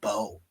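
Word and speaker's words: Mbow: Somebody called Marcus Mbo, just pronounced it Bo.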